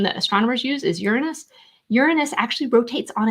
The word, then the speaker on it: Uranus: So Uranus, sometimes people pronounce this Uranus, but the classic definition, the classic pronunciation that astronomers use is Uranus.